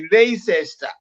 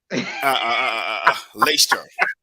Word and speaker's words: Leicester: Wewe umepronounce vibaya Makia, ni Leicester. Leicester.